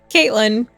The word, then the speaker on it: CVII: they were like, "Oh, how do you say your name?" I was like, "Caitlyn, it's just a Roman numeral a Roman numeral."